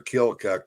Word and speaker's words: Keokuk: Well, they always make fun of the L in their Keokuk, but then you got to spell it out to pronounce it correctly.